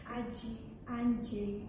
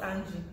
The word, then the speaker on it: Aji Anje: I will not pronounce it. Anji, I call you Anji. Anji. Aji Anje. Oh, Anje, Seth, not Anji.